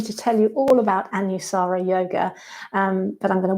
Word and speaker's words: Anusara: style of yoga is how do you pronounce it so there you go it's anusara um depending on your accents and things it might get pronounced a little bit differently but anusara means to